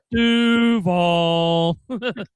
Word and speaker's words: Duval: Don't say it wrong. Did you ever see his first press conference when somebody asked him? He had no idea. He went, Duval. Yeah. You gotta say Duval.